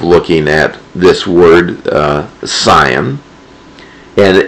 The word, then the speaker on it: Zion: have you noticed that i am pronouncing this not with a z the way it's spelled in english but it is pronounced with a ts scion the reason is is